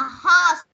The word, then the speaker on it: horse: Con từ cô cần cái phần của con là horse. Horse. Đừng đọc là hot nhé. Horse. Horse. Fork.